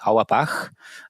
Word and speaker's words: Auerbach: And uh it was Adam and I the way I pronounce his last name with my German background is Awabah.